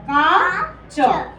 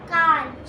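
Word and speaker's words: काँच: क्या बन गया का क्योंकि अगर चंद्र बिंदु लगता है तो उच्चारण कुछ नाक से होता है का च क्या बन गया बेटा काच काच ऐसे क्या था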